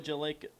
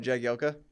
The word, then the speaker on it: Jagielka: Phil Jalek, how do you say it, Coral? What? boy. Phil? Oh, Jagielka?